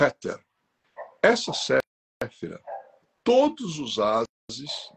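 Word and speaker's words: Kether: A gente escreve Keter, com K, Keter, mas a gente pronuncia Heter. Então, K-E-T-H-E-R. K-E-T-H-E-R. Keter. Mas a pronúncia é Heter.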